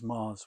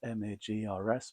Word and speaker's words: Magrs: One thing I must say, my name is Mars with a silent G. It's Magrs, but the G is silent.